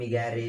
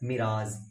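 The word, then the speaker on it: mirage: कहते हैं मिराज, ओके, बहुत सारे इसको बहुत तरीके से बोलते हैं, मिगैरे मिगैरे ऐसे कुछ करके बोलते रहते हैं, जबकि इसका बर्ड मीनिंग का स्पेशल, सॉरी मतलब जो होता है ना ऑथेंटिक प्रोनाउंसिएशन उसका होता है मिराज, MIRAZE, मिराज।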